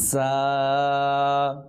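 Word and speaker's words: ز: র র র র জা জা জা জা এই হরফটার ক্ষেত্রে আমাদের একটু লক্ষ্য রাখতে হবে যে এই জাটা যেন জিমের মতো উচ্চারণ হয়ে না যায় একটু খেয়াল করতে হবে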